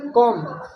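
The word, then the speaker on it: comb: ऐसे देखो यम के बाद आए बी साइलेंट हो जाता है, यम के बाद कभी भी ऐसा नहीं। जैसे देखो कॉम, अब इसको क्या पड़ेगा, कॉम बा, ध्वनि निकलेगी लिए।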